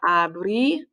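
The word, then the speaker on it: abrí: ir to open so i opened is abri accent on the eye you opened same as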